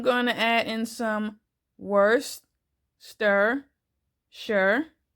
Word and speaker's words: Worcestershire: to add in some worst stir sure Worcestershire sauce I know that can be hard to pronounce that's the way that Google says to pronounce it so I'm only going